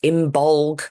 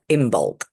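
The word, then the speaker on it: Imbolc: o l c and it's often pronounced imbolg with a like it sounds like a g um if when it's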